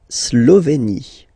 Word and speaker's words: Slovénie: La Slovénie. Remember, you get this E accent aigu here, it's E. Slovénie. Final E, as usual, not pronounced.